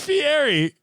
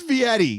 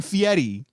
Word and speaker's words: Fieri: I'll start it over it's Fieri what are you saying I hear fairy God that's Vietti I don't think so buddy you don't Gaslight me on this he's saying fietti no man don't Josh he's saying Fieri so loud we're gonna